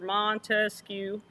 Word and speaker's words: Montesquieu: and we keep saying montesquieu is our guy and remember we said it's three syllables for mon to skew so there are three